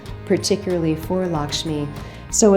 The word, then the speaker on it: Lakshmi: Pronounced really Lakshmi, which is interesting, like you have good fortune, you have good luck.